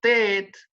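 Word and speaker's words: טית: Después tenemos la tet, que es una forma de pronunciar la T, que es así. ¿Ah? Esta es la tet. Algunos la hacen redonda, así también. ¿Ah? Esta es la tet. Suena como una T.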